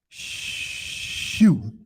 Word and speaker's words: shu: air in ancient chemical was called shu s-h-u shoe so the word itself even sounds like air shoot right and so